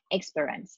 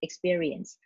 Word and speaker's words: experience: Another problem is that she tend to shorten the word by saying experience instead of just experience, or era instead of areas.